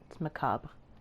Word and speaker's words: macabre: what a macabre souvenir macabre there's no extra r makes my eye twitch when people say it wrong all right captain what